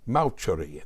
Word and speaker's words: Mauceri: I'm presently reading an excellent and exceedingly irritating book by the conductor John Mauceri, that's spelled M-A-U-C-E-R-I, Mauceri, entitled Maestros and Their Music, the Art and Alchemy of Conducting.